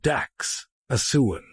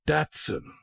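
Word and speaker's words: Dachshund: The daxent pronounced dax a suand not daten was developed in Germany to hunt badgers.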